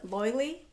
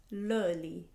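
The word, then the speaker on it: Löyly: So on the sauna fence, I did this place called Loili, but it's pronounced Loili.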